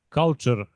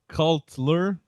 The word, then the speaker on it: Cultler: Uh the first one is culture global game jam 20. Hell yeah guys. Yeah actually not culture but cultler if you can pronounce it.